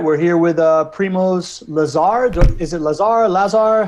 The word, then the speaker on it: Primoz Lazar: We're here with Primoz Lazar. Is it Lazar? Lazar? How do I pronounce it? Primoz, Yeah, introduce yourself, man. yeah, it's all good, man. It's Primoz Lazar, which you pronounced properly.